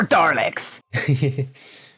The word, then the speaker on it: Dalek: I know, more Daleks! It will always please me that you pronounce Daleks with an R. Daleks. I like if I think about it, I'll pronounce it properly, Dalek.